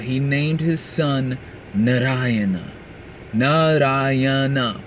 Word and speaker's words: Narayana: Narayana, four syllables.